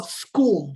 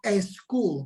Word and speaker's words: school: pronunciation of words uh school that's the way we pronounce it not a school but school and i have my